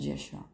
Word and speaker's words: Yeshua: the kingdom of Truth it will come again pronounced Yeshua it will never come cried pilate in such